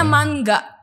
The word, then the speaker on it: manga: kalau Oke jadi kan manga itu komik Jepang Tapi kalau aku dengar dari orang Jepangnya langsung tuh bacanya mangga jadi kayak emang kedingannya kayak mangga di kita Iya enggak salah sih